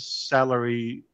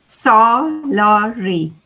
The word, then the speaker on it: Salari: the salary yeah salary how do you say it salari salari okay okay sounds much better than salary right salary okay uh so